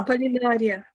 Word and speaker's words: Аполлинария: Правильно произносится ваше имя. Huh? Аполлинария.